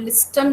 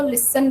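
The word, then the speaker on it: listen: लिसन में silent होता है टी, जो टी होता है उसको हम बोलते नहीं है, हम लिस्टन नहीं बोलते, इसको लिसन बोलते हैं, क्योंकि टी इसमें साइलेंट होता है।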